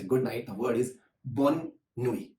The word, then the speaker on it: bonne nuit: want to say good night, the word is bonne nuit. Bonne nuit. So how you pronounce quickly is bonne nuit.